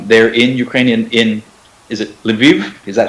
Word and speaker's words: Lviv: They're in Ukrainian, is it Lviv?